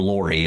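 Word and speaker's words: Lorre: Peter Lori. It's spelled L O R R E.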